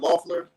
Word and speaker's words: Loeffler: How do you pronounce the last name? Loeffler, but without even saying her name.